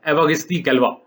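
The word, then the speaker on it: Évariste Galois: अब मुझे फ्रेंच तो नहीं आती, लेकिन ये मुझे पता है कि ये जो सही प्रोनाउंसिएशन है इसकी, ये है एवागिस्ती गैल्वा।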